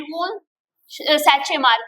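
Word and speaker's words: von Tschermak: इन 1900 sorry in 1900 three scientist डिवस coherence and वूल सैच मार्क किया। आप यहां पे टीएचओ साइलेंट रहेगा।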